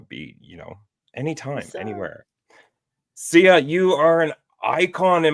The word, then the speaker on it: Syya: There's Syya, and pronounced Syya as in Syya. Wouldn't want to be ya.